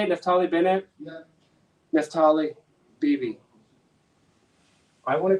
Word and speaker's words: Naftali Bennett: Is that how you say it, Naftali Bennett?